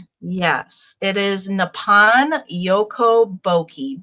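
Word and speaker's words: Boeki: Can you help me pronounce the company that this is? Yes, it is Nepan Yoko Bokei.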